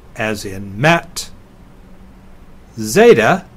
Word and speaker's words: zeta: e as in met Zeta is similar to the last letter in the English alphabet it's like the Z in days ADA is a long